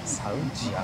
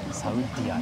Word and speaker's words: Saudia: サウディアじゃないんで、サウジアの発音です。